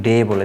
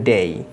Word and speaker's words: day: নামগুলো উচ্চারণ করি বা দিন অর্থে এই যে ডেই যে শব্দটি বলে থাকি এটির উচ্চারণ আমরা অনেকে ডে বলে থাকি কিন্তু এটির উচ্চারণ হবে ডেই আমরা একটি সাউন্ড শিখতে চেষ্টা করেছিলাম যেটির উচ্চারণ